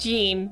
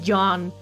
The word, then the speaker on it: Jean: Okay, his name is not pronounced Gene. Please, please make me remember that. Please make me remember to pronounce his name like John, because I'll probably say Gene.